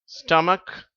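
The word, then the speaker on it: stomach: அந்த வார்த்தைகளில் CH சேரும்போது இந்த H என்ற உச்சரிப்பு வராது. அதுக்கு பதிலாக இக்குன்ற உச்சரிப்பு தான் வருது. நான் இப்பொழுது வார்த்தைகளை வாசிக்கிறேன். ஏக், ஸ்டமக், அன்பு மாணவர்களே, ரத்னா கல்வி நிலையத்தின் சார்பில் உங்கள் யாவரையும் வாழ்த்துகிறேன்.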